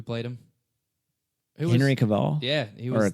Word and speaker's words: Cavill: Who was- Henry Cavill, Yeah, he was or Cavell.